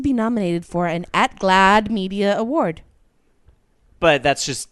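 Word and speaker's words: GLAAD: yacht somewhere um also now I know they pronounce it glad but because it has two a I always wanted to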